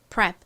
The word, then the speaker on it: prep: r은 리을 소리, e는 에 소리, 그리고 p는 원래 피읍 소리, p 소리가 나는데 워낙 약하게 작게 발음이 되다 보니 prep 이렇게 거의 받침처럼 들려요.